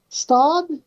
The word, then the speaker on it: Stout: Is it Stout or how do you pronounce that? Stud? It's Stout. Stout.